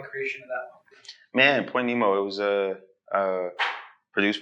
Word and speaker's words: Point Nemo: a crazy thing for anything indeed so uh Point Nemo that's the correct pronunciation corre song starts off the project with